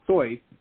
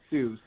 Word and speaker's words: Seuss: be a purist he's he's of German extraction it's actually soy not Seuss um but no one ever pronounced it that way oh okay and the